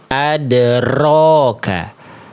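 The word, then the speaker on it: أَدْرَاكَ: Yang A salah karena apa? Karena huruf r-nya getarannya berlebihan. Adroka. Yang B salah karena mulutnya monyong walaupun getarannya udah oke. Adroka yang C terhindar dari dua kesalahan tadi.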